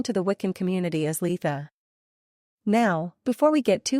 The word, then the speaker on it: Litha: straightforward just say it Lea without too much of an emphasis on the first syllable and if you don't